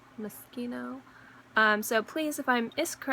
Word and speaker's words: Moschino: Please forgive me if I used to call it Moschino, but then it's Moschino.